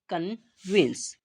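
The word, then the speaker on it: convince: पर क्या आता है सी ओ एन वी आई एन सी ई तो इससे सबसे पहले पढ़ते हैं सी तो सी से यहां पर क यहां पर जो ओ होगा वो साइलेंट रहेगा ठीक है ना से एन वी से वा और आई से ई ना से एन और यहां पर जो सी होगा उससे सा और लास्ट वाला ई से हमारा साइलेंट रहेगा तो इसे हम क्या पढ़ेंगे कन्वेंस क्या पढ़ेंगे कन्वेंस ठीक है तो कन्वेंस का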